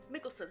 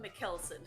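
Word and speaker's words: Mikkelsen: name Matt Matt's mikkelson mikkelson thank you because for the longest time I called him melson mat melson and a brief appearance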